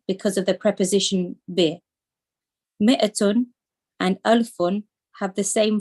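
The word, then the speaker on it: مائة: So it's pronounced ma. It's written ma'atun, but we pronounce it as mi'atun. Okay. Mi'atun 100. Alfun 1,000. Note that mi'atun, the alif is not pronounced. It is pronounced mi'atun.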